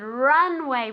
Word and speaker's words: runway: this runway very good runway with accent on with the accent on the first syllable runway one more time